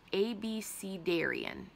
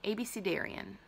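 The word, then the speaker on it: abecedarian: how to say this ABC Darian ABC Darian ABC Darian um and the whole point of it is like a b c d Aryan ABC Darian so it's literally like a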